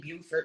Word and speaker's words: Beaufort: Um, Sorry, she was born in York, but raised in Beaufort, South Carolina.